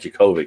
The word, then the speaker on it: Djokovic: jacob uh yeah so novak djokovic i think is how you pronounce it the d silent but he said he's